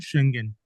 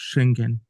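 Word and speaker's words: Schengen: इसको प्रोनाउंस करते हैं शेंगन। ठीक है ना? इसको प्रोनाउंस करते हैं हम लोग शेंगन।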